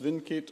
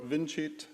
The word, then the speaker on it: vincit: against individuals veritas vincit pronounced vinkit or vincit depending whether one believes the ancient romans which this is hardly credible pronounce their seas as soft seas or not therefore i generally welcome